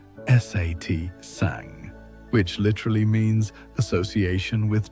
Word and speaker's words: satsang: The ancient texts describe this kind of community as satsang pronounced satang which literally means association with truth or gathering with the wise.